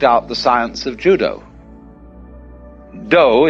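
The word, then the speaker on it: dō: the science of judo do is the way the japanese pronounce dao ju means gentle judo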